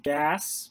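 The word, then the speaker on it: GAAS: standards and it basically makes up or includes gas which is how the that acronym acronym is pronounced which is the generally accepted auditing standards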